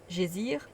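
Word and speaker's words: geysir: une hauteur de 10,3 le geyser mots que l'islande et prononce gésir et qui signifie fureur s'élève majestueusement à son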